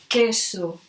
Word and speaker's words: queso: a key and K example we can say queso cheese queso this is pronounced like okay we can't as well I